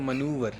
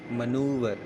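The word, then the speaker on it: manoeuvre: पड़ेगा ठीक है क्योंकि इसका मतलब प्रनंसीएशन थोड़ा अलग है स्पेलिंग अलग है ठीक है तो मनोबल होता है स्पेलिंग क्या है एम ए एन ओ यू सी मनोर ठीक है manoever मतलब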